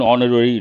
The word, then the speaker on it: honorary: lot of people say ha honorary no h is silent because of Silent or mute H we have to say and honor an honest person an honorary degree besto or confer